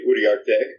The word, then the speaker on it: Uriarte: It's technically Uriarte, which is Spanish, Mexican name.